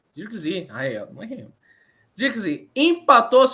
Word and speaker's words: Zirkzee: Correto minha pronúncia? Zirkzee.